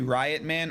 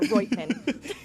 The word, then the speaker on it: Reutman: Everyone calls me Riot Man or Rotman.